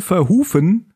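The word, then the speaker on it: Verhoeven: der film ist von paul verrufen wie ich gelesen haben wir richtig ausgesprochen wird den wir auch von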